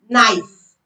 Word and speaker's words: knife: The letter K is silent when it comes before N at the beginning of a word. For example, knock. Knife.